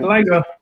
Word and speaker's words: LIGO: Correct, LIGO.